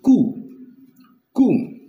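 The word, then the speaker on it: קוּם: Now, arise in Hebrew text, especially in the Hebrew Bible, is pronounced kum.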